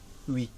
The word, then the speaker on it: oui: You mean oui, Oui, oui. but it's spelled O-U-I.